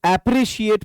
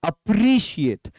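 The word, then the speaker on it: appreciate: और ये जो वर्ड देख रहे हैं, बहुत सारे बंदे इसको एप्रिशिएट पढ़ते हैं। That's quite wrong pronunciation, actually it's अप्रिशिएट।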